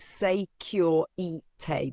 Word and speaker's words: Securité: And then there is securite, pronounced say cure e tay.